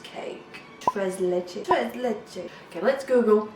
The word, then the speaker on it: tres leches: I believe it's called a Tres Leches cake. Tres Leches.